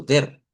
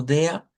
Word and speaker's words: der: Esto lo podemos decir como der, ya lo habíamos dicho, se puede decirlo como der, pero si se va al sonido propio, entonces va a encontrar esa variación que algunos lo dicen como dea y otros lo dicen como día y hacen una i aquí en vez de una e.